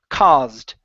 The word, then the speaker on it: caused: at this word here instead of caused with an ow sound this is an a sound C caused caused there you go good good so